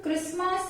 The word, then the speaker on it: Christmas: Words are given where T is silent. In words के pronunciation में T silent रहता है. So the words are like castle, depot, listen, often, fasten, bristle, kitchen, Christmas, rustle.